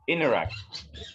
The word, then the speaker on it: interact: La T que está ahí no se pronuncia, solo se dice interact.